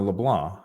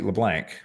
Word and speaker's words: LeBlanc: but I feel you I'm a leblan and most people call me LeBlanc because that's what it looks like but it's French for the white um so anyway I